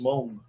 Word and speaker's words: Meng: It's like Meng. You know Meng, the Chinese company, that's properly pronounced Mong.